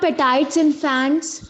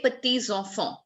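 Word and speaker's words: petits-enfants: You are correct, Manrina, but your pronunciation is not correct. They are called les petits enfants. P-I-T-I-T-S is petits. Well, it's petit, but it has to be carried forward with the sound of enfant, E there.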